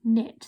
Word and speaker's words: knit: making a sound okay we don't say i like to connect we say i knit so that's our silent k there and this one